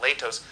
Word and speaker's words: Latos: has been solid Matt Latos has been solid by the way he pronounces it latest not should we continue on